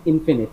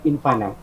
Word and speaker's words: infinite: So correct pronunciation of this word is infinite, not infinite.